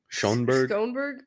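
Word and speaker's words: Schönberg: Claude Michelle and then or Michael schonberg Schoenberg Schoenberg that's scone okay so the first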